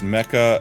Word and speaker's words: Mecha: It's Mecca as in mechanic.